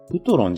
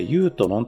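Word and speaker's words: Yutron: これ、ウトロンじゃなくてユートロンと読むみたいです。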